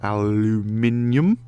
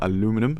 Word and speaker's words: aluminium: need more steel or annual aluminium as the Brits say or aluminium as the rest as well it says